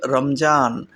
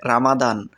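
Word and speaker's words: رمضان: হবে রমজান অথবা রামাদান অনেকেই অনেক ভাবে উচ্চারণ করে থাকে আরবি এই মাসটিকে কেউ বলে রমজান আবার কেউ বলে রামাদান তো আপনারা যেকোনো একটি মুখস্ত করে নিতে পারেন এরপরে দশম মাস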